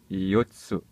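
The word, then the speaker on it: 四つ: Repetindo, yotsu. E Yotsu. Aqui há o pequeno tsu, então há aquela pausa que eu já disse nos vídeos anteriores. Então é Yotsu.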